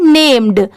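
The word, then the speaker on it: named: AND एंड, ये है नेम्ड। अभी तक आपने क्या सुना होगा? NAME नेम, पर यहाँ पर D लगा है तो क्या पढ़ेंगे? नेम्ड।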